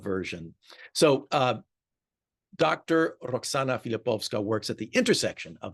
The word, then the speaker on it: Filipowska: anglicized so long that we pronounced the W as a w and not how it should be pronounced uh as more of a v sound in the Polish so filipova uh the